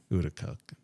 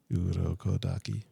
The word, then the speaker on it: Urokodaki: Uraraka. It's a hard language. Urokodaki. Urokodaki. Urokodaki.